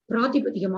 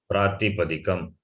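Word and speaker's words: prātipadikam: Pustaka is the pratipadikam of Pustakam. Pratipadikam, number one. I have to correct your pronunciation. I've been saying that. Pratipadikam, not pratipadikam.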